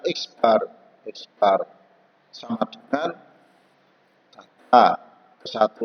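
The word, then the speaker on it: x̄: Ya, nama bacanya X bar sama dengan data ke-1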